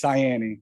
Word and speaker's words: Saienni: your last name correctly yes it's cyani it's italian s-a-i-e-n-n-i but most people can't pronounce cyani so that's why i'm